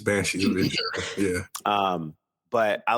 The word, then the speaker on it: Inisherin: Is that how you pronounce it? With Colin Farrell? Yeah. So yeah, I believe it's Banshees of Inisherin.